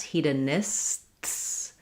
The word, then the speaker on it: hedonists: So hedonist, you can hear I have the S and T. When I have words that end with STS, hedonists, I basically have the S sound and then a sharp S where that T turns into an S.